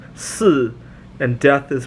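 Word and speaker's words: 四: Four is pronounced si, and death is pronounced si.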